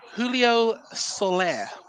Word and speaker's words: Julio Soler: I always want to get the pronunciation right, but we were talking about it off air as well. But Julio Soler, have I said that right?